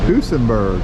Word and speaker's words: Duesenberg: Duesenberg.